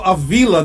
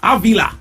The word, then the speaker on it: Avila: now I pronounced your name as Aila did I pronounce the last name incorrectly Aila Aila beautiful exactly yeah now you know the word